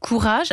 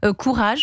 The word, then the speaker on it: Kurage: C'est comme ça que vous avez fondé Courage avec un un associé, un associé s'appelle Rudy, c'est ça ?